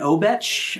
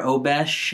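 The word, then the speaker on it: obeche: Trent model one um it's an obetch or obesh uh I've heard pronounced both ways body um and it's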